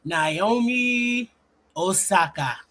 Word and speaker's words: Naomi Osaka: I'm trying to get good at saying that name, Naomi Osaka. Okay, that's how they say it when you walk out on the tennis court. Oh, what they say, Naomi Osaka.